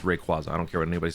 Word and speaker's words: Rayquaza: By the way, it is pronounced Rayquaza. I don't care what anybody says. I don't even care what Pokemon says. It's Rayquaza. It's not Rayquaza.